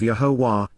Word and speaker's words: Yahowah: benefits of the relationship, Asher, Yahowah, the proper pronunciation of Yahowah, our Eloah, God has directed in His Towrah